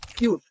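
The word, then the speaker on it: cute: ধরনের পরিবর্তন সৃষ্টি করবে যেমন সি ইউ টি কিউট আবার সাইলেন্ট ই না থাকার কারণে সি ইউ টি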